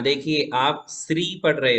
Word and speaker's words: श्री: जैसे हम अभिषेक पीठ में श्री लिखते हैं भगवान को विराजमान करने के लिए, तो उसे क्या पढ़ेंगे? श्री। शक्कर वाला श, श्री। समय वाला स पढ़ा तो बोलेंगे आप श्री, तो वो श्री नहीं है ना। भगवान स्त्री है क्या? नहीं, भगवान श्री है, श्रीमान है ना।